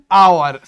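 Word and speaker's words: hour: যেমন দেখো, অ্যান আওয়ার, স্যার এইচটা কি? স্যার এইচটা তো কনসোনেন্ট, কিন্তু স্যার এইচ এর আগে তাহলে আমাদের অ্যান কেন বসলো? তার কারণ আমরা যখন আওয়ার উচ্চারণ করছি তখন কি উচ্চারণ করছি?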